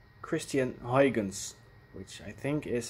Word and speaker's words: Christiaan Huygens: Somebody has asked me to explain the pronunciation of the name Christiaan Huygens, which I think is how you will pronounce it in English.